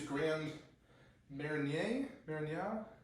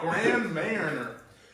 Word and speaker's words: Grand Marnier: Typically, you'd use Grand Marnier, Grand something, Grand Mariner, as Americans say, Grand Mariner.